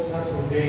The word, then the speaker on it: Saturday: We have to pronounce T like D. And you have to tell me Saturday.